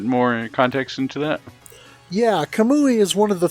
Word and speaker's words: Kamui: Forgive me if did I pronounce that right? Kamui?